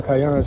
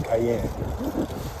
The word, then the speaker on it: cayenne: As y'all say, cayenne. I guess y'all say it like Cheyenne, you know? Cayenne. We say cayenne.